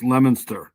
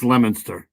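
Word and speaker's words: Leominster: The two So that's pronounced Lemonster. Um for those who are following at home, worked together for about 30 years. Officials say she was shot and that's Lemonster and right there.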